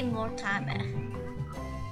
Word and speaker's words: Mortimer: In plain South African language, it will say Mortimer. Mortimer Goth. That is how we see and will pronounce his name in South Africa, as Mortimer Goth.